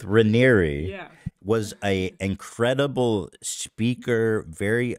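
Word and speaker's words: Raniere: documentaries is that Keith Rainier is was like a very good I don't care yeah apparently I've been saying it wrong Keith Ranieri was a incredible speaker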